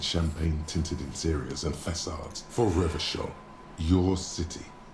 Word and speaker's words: Revachol: People made gold and champagne-tinted interiors and facades for Revachol, your city. That, if it doesn't rhyme, you're not pronouncing it right.